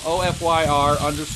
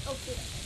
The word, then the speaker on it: Ofyr: Look them up, O-F-Y-R _USA. Or if you're from a different country, it's Ofyr. Yeah, it's pronounced Ofyr, Ofyr.